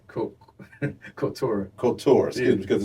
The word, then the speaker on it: Cultura: I'm going to make sure I'm pronouncing it right. It's Cultura, right? Cultura. Cultura, excuse me, because it's the Spanish tense of culture, right?